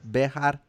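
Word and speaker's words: Béxar: Yeah, in Spanish it's like Mexico, like Bejar.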